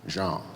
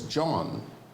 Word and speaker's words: Jean: Jean, J-E-A-N. He says the American reporters are pronouncing it as John, rhyming with Sean, as in Sean Connery.